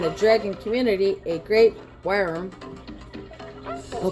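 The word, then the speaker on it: wyrm: Worm. Worm. It is pronounced worm.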